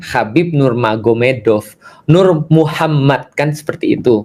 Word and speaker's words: Nurmagomedov: Jadi tulisnya Magomet tapi bacanya Mahomed kan gitu kan ya. Jadi Nur Magomedov itu jadi Nur Maomed.